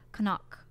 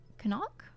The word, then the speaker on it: Connacht: It's part of the County Mayo, one of the five counties in the province of Connacht. Connacht?